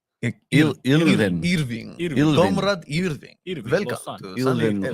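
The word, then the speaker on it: Hirving: How do you say his first name? The silent H. I said it sounds Russian. Irving.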